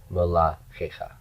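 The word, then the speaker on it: מלכיך: Melachecha. My accent is on that kaf.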